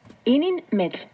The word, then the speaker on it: ininmetl: Ininmetl. Recuerda que en el náhuatl las palabras se acentúan en la penúltima sílaba.